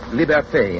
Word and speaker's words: liberté: Liberty is pronounced liberté in Haiti and Martinique, libertad in the islands that still keep the Spanish tongue.